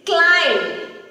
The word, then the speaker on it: climb: Similar to that, it is climb. Climb, not climb. Again, in this word also, the letter B is silent. Climb.